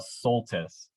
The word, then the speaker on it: Soltisz: make a quick clarification my last name is suus suus yes y so hopefully the